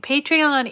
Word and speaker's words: Patreon: scratchy throat today so it's spelled p-a-t-r-e-o-n patrion patreon i guess it's supposed to be a play on the word a patron a patron is somebody